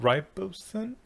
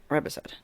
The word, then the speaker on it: riboside: that we like is, God, how do you pronounce the whole thing? Nicotinamide ribosine? Yep, riboside.